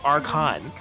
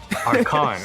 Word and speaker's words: Archon: We have canon confirmation via the Discord that it is Archon. Archon, okay. Archon, like Arcana Heart, but without the ah. Well, the second ah.